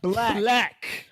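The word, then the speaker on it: 6lack: His merch literally say 6 lakh pronounced black.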